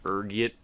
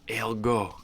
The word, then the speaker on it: ergot: next is this one there's a few different ways you can pronounce it depending on your social standing ranging from ergiet to elgo being the disheveled pumper i am i prefer ergot rolls off the tongue you know ergot is